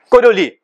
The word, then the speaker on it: Coriolis: Esse termo é conhecido como aceleração de Coriolis, tá? Você não pronuncia o S no final.